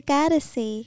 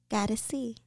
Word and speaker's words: Goddessie: I'm the Goddessie. I'm a goddess, you see? But I'm deep like the ocean, like the sea. But you spell it with the I-E. Goddessie.